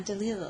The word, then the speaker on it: Delisle: I love the French way. It's very endearing. Delisle. Yeah, Delisle. That's how Yeah, it's but supposed just to be. Delisle. I It sounds very Delisle, cool.